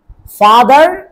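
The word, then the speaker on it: father: ফাদার, ফাদার, দেখো এফ এ টি এইচ ই আ, আ আর না আ, তাহলে কি হবে?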